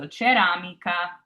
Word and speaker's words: ceramica: And then we have our C followed by an A, which is a K sound. So ka, so ceramica.